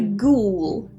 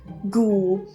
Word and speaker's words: ghoul: dressed as a goblin this one is a ghoul good so the H is silent and the U or the O one of those in silent and is this an O sound there ghoul this is quite similar to a zombie actually